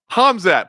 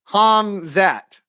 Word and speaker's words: Hamzat: say his name correctly you say it like a hazmat suit it's h hamzat put the M before the Z hamzat there you go boom